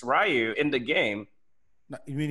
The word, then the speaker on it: Ryu: He was one of the first to get it, and I picked Ryu, and I beat him. Wait, how'd you pronounce that?